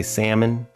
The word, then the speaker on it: salmon: You say salmon. The L is silent.